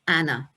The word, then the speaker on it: Anne: annelise marie arrived and her name was soon shortened to what we would say and but they would uh pronounce it in the continental way of anna now i particularly find